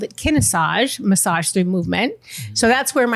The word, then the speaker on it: Kinesage: It's like Kinesage.